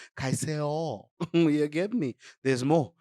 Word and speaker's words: Caicedo: It's not Caicedo. Caicedo.